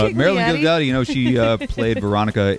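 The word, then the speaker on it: Marilyn Ghigliotti: It's Marilyn Gigliotti, you know, she played Veronica in the movie Clerks.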